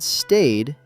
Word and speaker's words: stayed: When Emma said I stayed at home, the word stayed ends with a soft D. Stayed.